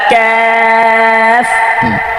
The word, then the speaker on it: كاف: كاف সুন্দর দর্শক, এটা পাতলা হবে এবং এই কাফটা ধরেন